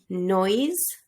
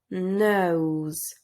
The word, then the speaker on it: nose: like human and you basically pronounce it the nose nose remember that you don't say noise but nose nose next plain part is